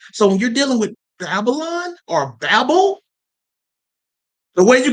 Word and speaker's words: Babylon: That's the Hebrew transliteration of pronouncing it. The Greek transliteration of pronouncing it is Babylon.